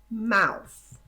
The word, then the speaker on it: mouth: Mouth. Mouth. Ok? Então, observe que agora aqui o TH já está no final. Então, a pessoa vai produzir esse som, olha. Mouth.